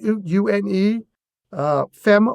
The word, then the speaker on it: Une Femme: Une, Femme Wines. That's am right. I pronouncing that properly? Yep. Une Femme Wines?